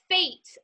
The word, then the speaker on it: Fecht: killer copy critique with Draya oh it's it's pronounced fate like LBT yeah but it looks like fetched